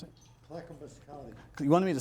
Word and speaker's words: Clackamas County: How do you pronounce it? Clackamas County.